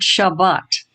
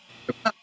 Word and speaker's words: Shabbat: Well, we say Shabbat. We don't say Shabbat. If you're Sephardic, it's on the last syllable.